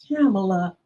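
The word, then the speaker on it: Kamala: handshake but she told him her name and pronounced it the way it's supposed to I'm camela Harris to know let's go let let me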